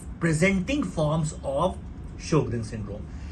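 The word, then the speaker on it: Sjögren: अब आते हैं शोग्रेन सिंड्रोम पे, जिसको जोग्रेन सिंड्रोम भी कुछ लोग कहते हैं. इट्स अ शोग्रेन syndrome, S silent है, शोग्रेन सिंड्रोम.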